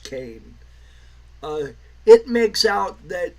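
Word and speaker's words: Kean: pretty much all uh what's her name Leslie Kane yes it's spelled Keen but it's pronounced Kane uh it makes out that she's the the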